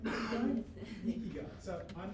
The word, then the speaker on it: ikigai: Am I pronouncing it right? Ikigai?